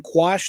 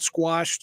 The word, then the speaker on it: quash: have the whole thing quash they call it quash not squashed it's kind of the